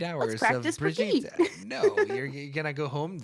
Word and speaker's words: Brigitte: So just Brigitte. FYI to everybody, Brigitte. Just the I same way know Jeff that said it. I know that we have mispronounced her like a million times on the show. We'll try to be better about it. So now you know, Brigitte.